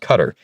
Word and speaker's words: Qatar: You know, fun fact I did learn about OPEC is that Qatariq Cutter, excuse me, it's pronounced Cutter, uh, used to be a core member of OPEC until about 2019.